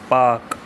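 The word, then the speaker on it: Palk: इस स्टेट का नाम है पाक। ठीक है? एल इसमें साइलेंट है।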